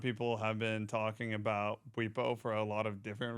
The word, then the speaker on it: Bwipo: Well, it's pronounced Bwipo.